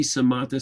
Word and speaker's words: samatha: You'll sometimes see samatha spelled S-A-M-A-T-T-A, which is really kind of the way it's pronounced.